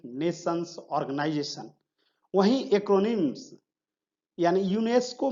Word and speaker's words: UNESCO: वहीं एक्रोनिम्स यानी यूनेस्को में टोटल 6 लेटर्स हैं।